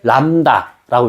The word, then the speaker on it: 람다: 보통 물리에서 파장을 표현할 때는 시옷 모양으로 쓰는데 시옷은 아니고 읽을 때 람다라고 읽어요. 람다.